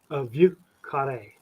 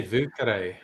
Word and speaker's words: Vieux Carré: Dave, how do you pronounce it, Dave? Vieux Carré. That's pretty nice. That's not bad. That's not bad. I would just say Vieux Carré. That's wrong.